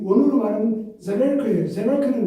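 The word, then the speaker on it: Seeberg: 이분은 아주 굉장히 강력한 분이시고 그분에 대해서 시버르크는 우리가 이 원어로 말하면 제벨크예요. 제벨크는 원어고 여기 시버르크는 영어식 발음입니다.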